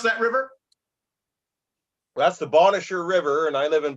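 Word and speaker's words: Bonnechere: nowhere yeah it's awesome yeah how do you pronounce that River that's the bonisher river and I live in pikwakanagan which is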